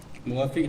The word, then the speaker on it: muwafiq: Muwafiq tu kalau kita tengok ejaan rumi tu K, tapi kalau ikutnya lebih tepatnya Q lah, qaf dengan huruf qaf ya.